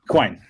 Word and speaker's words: Quine: How do I pronounce this? Is it Quine? Quine.